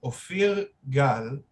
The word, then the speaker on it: Ophir Gal: musician that is named ophir gal which is the correct hebrew pronunciation how are you feeling